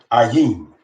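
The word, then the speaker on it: עין: That is the word ayin.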